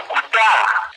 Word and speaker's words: Cúcuta: historia, Rafael Eduardo Ángel, esta ciudad antes tenía el acento en la última vocal y sonaba más o menos así. No era Cúcuta con el primer acento, sino el del último, era Cúcuta.